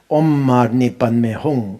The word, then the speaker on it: Om Mani Padme Hum: We forget 6 syllables. We shouldn't forget. There's a 6th syllable. So very important. Om Mani Padme Hum, Om Mani Padme Hum,